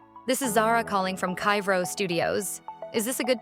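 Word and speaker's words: Kyvraux: For example, say your company name is spelled K Y V R A U X, but it's pronounced Kyro. Sometimes the AI might say it weirdly like kivox or kru.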